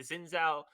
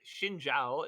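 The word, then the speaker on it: Xin Zhao: Too often I see the Zenzou the Shinja, sorry, Shinjao is how I've been told it's supposed to be pronounced.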